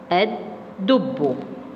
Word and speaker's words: الدب: عندي كلمة الدب، الدب. الدب مالها يا حبايبي؟ اسمع كده، الدب. احنا سمعنا كده كام بيت زي السحفاء ما قالت كده؟ الدب ثلاثة. طب حد سمع اللام؟ لا ما سمعناش، اصلها لام شمسية.